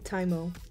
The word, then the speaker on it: TYMO: I'm so sorry y'all I pronounced that wrong it's actually taimo hair straightening I got